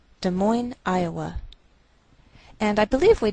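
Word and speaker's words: Des Moines: Indiana De Moine Iowa note that we treat the name of this Capital like one word and the greater stress is on the second part so we say de Mo de Mo Iowa and I believe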